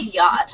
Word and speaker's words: yacht: than one kind of yacht and while we're talking about Yachts that CH is silent so it kind of just sounds like yach okay ignore the CH yacht um I was on